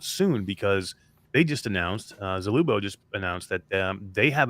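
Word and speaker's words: Zulubo: Vertigo 2, the sequel to Vertigo, by Zubolo. Zach Brown, he's a indie developer, and there's Zalubo, actually. I always pronounce that wrong.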